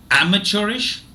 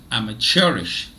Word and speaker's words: amateurish: word for today is amateurish British English and amateurish American English so it has two pronunciations okay let me repeat amateurish I'm a cherish amateurish I'm a cherish